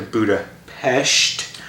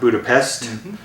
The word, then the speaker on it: Budapest: to go back to buddha pesht let's get the pronunciation right that's the thing in the movie the pronunciation of budapest not budapest which is honestly a